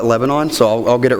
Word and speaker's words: Lebanon: I currently live in Shreveport, and I'll be moving to what I've been told is pronounced Lebanon, and I call it Lebanon, so I'll get it right when I move here.